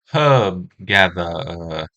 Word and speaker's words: Herb Gatherer: Herb Gatherer is a card that's pronounced quite differently, depending on which side of the Atlantic you're on. How'd they say it over there? Hub Gather. I can't even. Nobody pronounces all the letters. Uh, some people leave out the H, others the R.